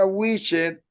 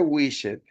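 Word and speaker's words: wished: No se pronuncia a widget. Se escribe wishet, pero la ed va a sonar como t. va a sonar wish.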